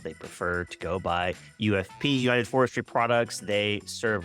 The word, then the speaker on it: UFPI: with Oro Commerce customer ufp Pi I have been informed that the I is silent they prefer to go by ufp United forestry Products they